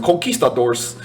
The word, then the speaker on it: conquistadors: thought that conquistadors uh and you have to pronounce it like a hispanic person coquistadors that's also diamond cut